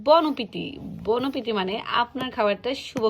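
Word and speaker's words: bon appétit: এখানে লেখা ইংলিশে যদি আমরা বলি তাহলে আমরা হয়তো উচ্চারণ করবো বন অ্যাপেটাইট, কিন্তু ফ্রেঞ্চে সেটা না। এখানে লেখা আছে বনপিতি।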